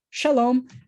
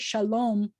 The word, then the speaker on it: shalom: When I said shalom, I said it like an American.